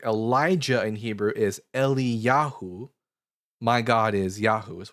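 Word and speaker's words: Eliyahu: So for example, if we see um at the ending of certain Hebrew names like Elijah in Hebrew is Eli Yahu.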